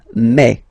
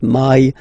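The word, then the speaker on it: mais: Remember when you combine this a and then e vowels, you get the sound e. So really open e. Okay? And then you pronounce it me. Me. Okay? So don't pronounce e. Don't try to pronounce it. No, it's me. Me. So it's not my, it's me.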